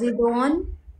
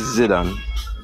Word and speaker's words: Zidan: What do your name pronounce? Zidon? My name is Zidan.